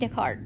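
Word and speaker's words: Descartes: the cart and Renae decart that's how you say it's a French guy so it's decart right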